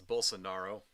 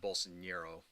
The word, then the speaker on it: Bolsonaro: that is but let's it's bolsonaro is how you pronounce the guy's name not Bolson Nero right I know Charlie